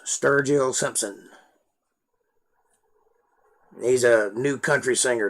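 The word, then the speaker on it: Sturgill Simpson: sturgeon s-t-u-r-g-i-l-l simpson s-i-m-p-s-o-n it's spelled just like it sounds sturgeon simpson he's a new country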